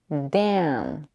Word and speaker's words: Dan: To pronounce the vowel, drop your jaw, keep the tip of the tongue behind the lower teeth, the back of the tongue pushes forward. Dan, Dan.